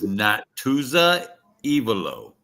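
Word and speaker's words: Natuzza Evolo: Her name was Natuza Ivalo. You pronounce that pretty good.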